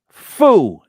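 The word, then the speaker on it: phở: I will look it up I think it's pronounced F no p f I have to put pronunciation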